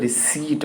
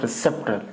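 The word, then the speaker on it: receipt: लिख दे रहा हूँ रिसीट, नॉट रिसिप्ट, रिसिप्ट, रिसिप्ट नहीं, भी साइलेंट रहता है इसमें, है ना।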